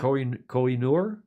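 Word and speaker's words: Koh-i-Noor: some of the most popular items were the coal I knewer diamond is that how you pronounce it yeah Kohinoor you know that did you try to buy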